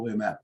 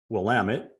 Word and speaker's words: Willamette: little background on Central Williamette just for a quick sec if you don't mind certainly certainly and uh it's Central Willamette I always say it wrong I'm sorry I did